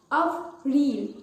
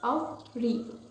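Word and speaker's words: avril: april april of re make sure you have to pronounce it of real not able it's not abundant it's of real okay next month is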